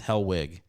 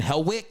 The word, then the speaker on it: Hellwig: I got a thing I say with my name because it's Hellwig. So I go Hellwig, CK for, Hell like the place, wig like a thing on your head.